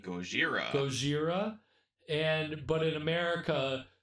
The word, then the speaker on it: Gojira: there's or you know they spell it in Japanese is g-o-j i r a Gojira Gojira and but in